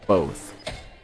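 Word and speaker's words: VOTH: starting, which is called Both, or View Over the Horizon. So both spelled like both, like both of us, but with a V, which stands for View Over the Horizon.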